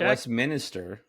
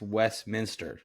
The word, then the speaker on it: Westminster: How would you pronounce Yeah, cuz wasn't the Westminster where like No, it's not West Minister. It's Westminster.